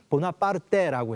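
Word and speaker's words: Buonaparte: 이름도 나폴레옹 보나파르트라는의 성을 프랑스 식으로 반언하는데 이태리아에서는 보나파르데라고 해서 이탈리아로 발음하게 됩니다.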